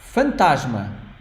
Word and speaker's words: fantasma: key shave is feminine the other word fantasma fantasma it's a very long word fantasma Fant three syllables f it means ghost